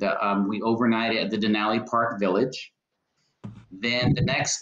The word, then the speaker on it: Denali: closest that we'll get actually to um mount denali correct that's how you pronounce it it's mount denali now correct then um we we from 8